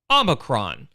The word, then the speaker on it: omicron: watched the video a bunch of times it's pronounced omicron so allow me to show you this video